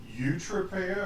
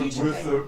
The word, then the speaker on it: Euterpea: Okay, Euterpea or so Euterpea. with the Y sound in there.